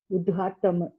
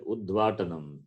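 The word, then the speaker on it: उद्घाटनम्: Gha. Is Udghatanam. Gha, Mahaprana, Gha, like the word in Yeah. the second word, Gha is there, Sangha. The same Gha is there, Mahaprana. Ukara plus Dakara plus Ghakara. Gakara. A is there, Akara, then Tanana. Tanam. Takara plus A plus Nakara plus A plus Makara. Udghatanam. Udghatanam. You said Udvatanam. Correct. Where is Dva?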